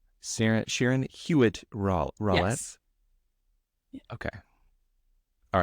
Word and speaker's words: Hewitt: all right Dr Sharon huet rette thank you so much for there's there's no l in the hu part there not so how do you say SAR Sharon huitt ra ret okay all